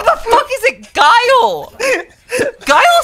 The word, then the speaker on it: Guile: Is it Guile? What the fuck is it? Yeah, it's Guile. His name's Guile.